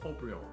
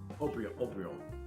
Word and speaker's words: Haut-Brion: That's the other first growth, Haut-Brion. It's spelled like hot Brion. Haut-Brion.